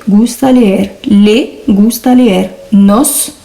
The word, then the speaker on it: nos: Ça va nous donner me gusta leer, te gusta leer, le gusta leer, nos, je prononce bien le S, gusta leer, os gusta leer, les gusta leer.